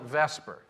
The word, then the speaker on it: VSEPR: not an initialization because chemists reverse these and they call it Vesper because the VNS is kind of hard to pronounce unless you have slavic blood so it's called Vesper and that is the scheme